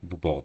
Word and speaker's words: Beaubourg: The Beaubourg, yeah, Beaubourg, that's how we pronounce it.